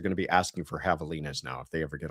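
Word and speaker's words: javelinas: Well, first of all, I am sure that you are referring to the Havalas, as I've been told. I had butchered the pronunciation earlier.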